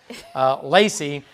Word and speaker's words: Lacey: That's how you say Lacey, right? That's perfect. Just want to make sure, because I've said it all different ways. Lacey. It's the right emphasis on the right syllable.